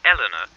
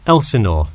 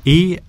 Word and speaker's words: Elsinore: I'm sorry, was that Eleanor? Could you spell that for me? Sure, it's Elsinore. E-L-S-I-N-O-R-E.